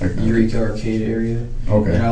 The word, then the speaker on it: Eureka: It's Eureka. It's E U R E K A. Oh, okay. It's the other one. Yeah. Like Eureka Arcade area.